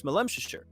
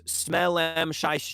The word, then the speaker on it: Smolemshire: So the people who are from there, you know, they know how to say it, right? It's Smolemshire. Anyone else who sees it goes Smellem Shire, Smellem Shire.